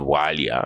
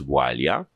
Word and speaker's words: Walia: It's not a Walia, it's Walia, and it doesn't need to change just because you're speaking English.